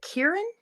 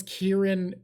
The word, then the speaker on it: Kirin: Japan based set and I heard them pronounce Kieran at playtables but I don't know if that means it's right it's k i r i n and I think it's Kirin and that's how she was saying it but my Japanese